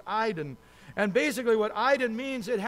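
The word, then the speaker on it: εἶδον: And the word see is eidon, A-I-D-E-N, but it's pronounced eidon.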